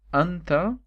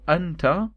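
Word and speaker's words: أنتَ: Is either you can say anta with the accent on the letter t, okay? So the accent like that is anta, and if the accent is below the letter is anti.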